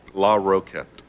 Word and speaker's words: Larroquette: Now you say it. Larroquette. Larroquette. 3 syllables.